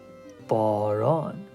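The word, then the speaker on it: باران: B looks like this. A, which is a straight line. R looks like this. A is another straight line. And then N is a noon. Is N sound. So then whenever I put it here, remember reading from right to left. Baron. Baron. Which means rain.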